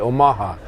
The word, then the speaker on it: Omaha: the Omaha tribe with the Omaha second syllable stress Omaha tribe contributor probably